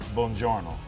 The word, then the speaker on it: buongiorno: Buongiorno.